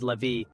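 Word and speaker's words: Lévi: a deep understanding of self-mastery was elus Levy pronounced as levie elus leevy a name that resonates with wisdom and mystery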